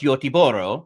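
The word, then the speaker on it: Göteborg: The Sweden pronunciations I think are really fascinating, especially because they're so different than what is the spelling like Goththingberg, which I when I visited Gothber, they're like, "Oh, it's Yoro."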